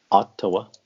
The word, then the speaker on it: Ottawa: How do you pronounce Ottawa? Ottawa.